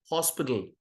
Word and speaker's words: hospital: Don't look at it as AL, look at it as LE. HOSPITLE. அப்படி இருந்தா எப்படி சொல்லுவோம்? ஹாஸ்பிட்டல்ல சொல்லுவோம்? No. Hospital.